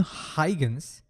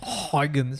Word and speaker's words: Huygens: On the other hand, a Dutch physicist named Christian Huygens, and that's not how you pronounce his name. Turns out that his name is pronounced somewhat like Huygens or something like that.